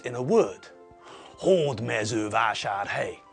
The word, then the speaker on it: Hódmezővásárhely: stress in the correct place, on the first syllable. Hódmezővásárhely. Hódmezővásárhely. Hódmezővásárhely. Hódmezővásárhely. Hódmezővásárhely. Hódmezővásárhely. Okay. So, because it's a Hungarian word, we know where the stress falls.